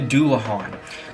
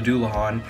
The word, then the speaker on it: Dullahan: We're going to start with, I believe it's pronounced the Dullahan.